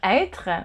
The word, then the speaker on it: être: the word not as être, but as être. So when there's an accent circonflexe on the E, it's the sound E and not E.